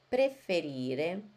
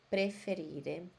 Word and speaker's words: preferire: Preferire, preferire. Uma observação, vocês estão prestando atenção que eu falo preferire, todos os verbos terminam em E e tem que falar a letra E.